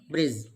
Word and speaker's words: bridge: d is always silent next bridge same rule applies here i vowel d g d is again silent here bridge and wednesday not wednesday